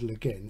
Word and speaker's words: Le Guin: But pronunciation, who's to say? But I know she said Le Guin, so I'll try and make it good from going forward.